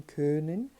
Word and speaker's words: können: E tentar, nesse caso, primeiramente você arredonda os lábios como se fosse falar um O e acaba dizendo um E, né?